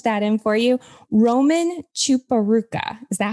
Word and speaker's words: Chiporukha: how i punch that in for you roman chuparooka is that how you say it that's correct chiparruka thank you chipper ruka that's a cool name